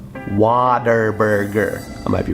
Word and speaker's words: Whataburger: It's actually spelt Whataburger, but we know for a fact it's pronounced Waterburger.